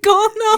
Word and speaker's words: colonel: You just replaced the L with an R.